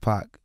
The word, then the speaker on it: Paak: it's honestly it's it's properly pronounced Park is Korean oh yeah so you say I changed it to pack yeah why not when